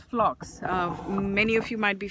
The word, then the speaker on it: phlox: my bed look prettier, and this is called phlox. Many of you might be familiar. It's spelled Phlox, phlox, and it's a beautiful ground cover.